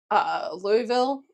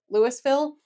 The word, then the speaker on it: Louisville: And rough parts of Louisville as well. You're not saying it right. Louisville.